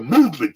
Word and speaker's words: MVMT: church What's Happening Now mvmt watches pronounce the movement ch was founded on